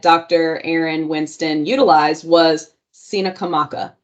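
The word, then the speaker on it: Tsenacomoco: spelling but it's t-s-e-n-a-c-o-m-o-c-o a lot of people pronounce it as Cena comococina kamoko it's Cina kamaka it is the land of Chief Powhatan in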